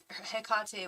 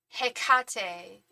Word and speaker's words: Hecate: I was putting the emphasis on the wrong syllable, saying Hecate.